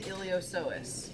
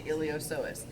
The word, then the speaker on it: iliopsoas: so that's called the iliopsoas so this little guy right here is the iliopsoas so it's spelled like iliopsoas with the P is silent you cannot see it